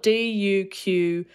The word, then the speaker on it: Duquesne: his surname is spelled d-u-q-u-e-s-n-e but that is pronounced like duquesne is that his first